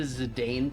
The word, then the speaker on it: Zidane: like to pronounce his name I choose the zidane pronunciation belong a I also use the Bron pronunciation